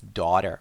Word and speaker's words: daughter: Pay attention to the pronunciation of that word. It's not daughter, it's daughter. I had a daughter. Longer sounding vowel.